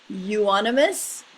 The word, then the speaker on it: euonymus: Euonymus japonicus, Aero variegatus, or Oreo golden, Oreo variegatus.